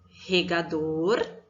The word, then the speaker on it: regador: A sílaba mais forte da palavra regador é o dor, não é mesmo?